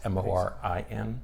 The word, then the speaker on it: Morin: So with that as background, we thought we'd talk about this article today by Amy, I think she pronounces her name Morin. It's Morin.